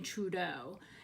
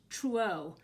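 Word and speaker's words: Truaxe: a person called brandon trudeau and i don't know if i'm pronouncing that right but it's spelled t-r-u-a-x-e so i guess that's true not trudeau i don't want to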